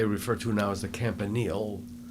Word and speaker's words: Campanile: to now as the Campanile. We didn't call it Campanile. I think we called it a Campanella for some reason. It probably could have been just a mispronunciation of it.